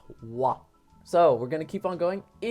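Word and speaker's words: は: But whenever ha is used as a subject particle, which is what we're going to learn about, it's pronounced wa.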